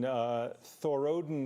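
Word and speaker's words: Thorodin: Oh wait, Thor and Odin, so it's Thorodden Mountain, but a high point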